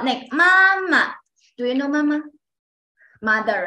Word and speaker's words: 妈妈: Then the second one is 妈 Neutral tone, pronounced very soft.And weak, pronounced soft and short and weakly.